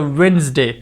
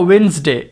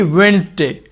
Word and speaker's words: Wednesday: is completely wrong here the d is silent so we will pronounce this world as a wednesday not a wednesday it should be wednesday means as well sound